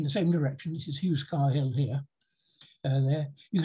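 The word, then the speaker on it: Heughscar: towards this hill here i think it's spelled h h-e-h-e-u-g-h s-c-a-r i pronounce it hugh scar that could be wrong so from pythologies if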